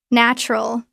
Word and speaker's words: natural: Natural. It looks like natural. Three syllables. Natural pronunciation. The middle oo sound is very weak. It almost becomes nral. Two syllables. The ant plus oo makes a ch sound.